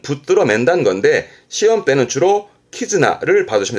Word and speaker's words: 絆: 혼자 두면서 뜻으로는 발음을 키즈나 키즈납니다.